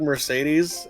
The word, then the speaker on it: Mercedes: The word Mercedes has three E's in it and they're all pronounced differently.